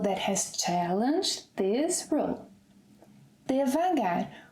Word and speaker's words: devagar: ‘Devagar’, which colloquially can also be said, pronounced, as ‘divagar’.